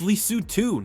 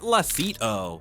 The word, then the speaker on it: Lesotho: It's Lesotho, not Lasito.